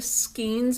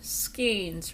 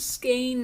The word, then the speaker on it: skein: Now these are the skeins of yarn. Skeins, remember that. The correct pronunciation for yarn is skein, not skein, not skein. Skein. Thank you, it's skein. It's always been skein.